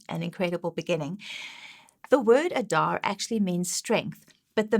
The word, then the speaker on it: Adar: to this so that is the way you pronounce it the month of adar and what is incredible about this month is